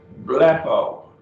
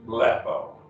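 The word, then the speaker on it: βλέπω: a verb omega andy bleppo and two syllables blappo lapo is i see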